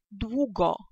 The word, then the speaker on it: długo: Бо литерка эу, так, вымавящий дźвięk, звук произносится как у, у. Например, очень похоже на английское, к примеру, в словах what, why, так, то докладнее то самое, то же самое. И отповедно первое слово прочитаем яко «długo», «długo», так.